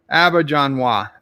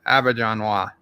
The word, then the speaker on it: Auberjonois: Roxod says pronounce his last name Auberjonois. Auberjonois.